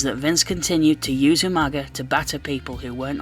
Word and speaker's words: Umaga: against Vince McMahon's representative Umaga at this point you can rest easy knowing that not all of us Englishmen pronounce it you manga like William Regal used to on that night